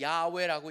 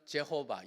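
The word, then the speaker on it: Yahweh: 뭐냐면 하나님 그다음에 심지어 우리는 그냥 야외라고 읽는 어떤 사람은 제호바 여호와라고 읽는데 사실은 야외라고 요새는 우리나라도 서서히 바뀌고 있습니다 근데 원래 건 그렇게 읽는게 아니에요 발음은 야지만 이스라엘 사람들은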